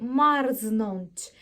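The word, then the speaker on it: marznąć: її не будемо вимовляти є певні слова в польській мові де rрз ми читаємо як rрз наприклад слові марзнонч марзнонч але такі слова настільки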